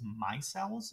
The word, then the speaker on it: micelle: specifically like vinaigrettes they form what's called these micelles is how you pronounce that uh and these hydrophilic heads and the hydrophobic tails will actually form these spherical ball-looking structures called micelles and they'll actually trap particles on the inside